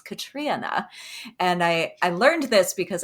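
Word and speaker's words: Catriona: is Little Eve by Katrina Ward. By the way, this is a public service announcement for everybody listening. I just learned how to properly say her first name. It's not Katriana, it's Katrina.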